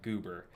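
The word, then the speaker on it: Geuber: It's spelled G-E-U-B-E-R, Goober.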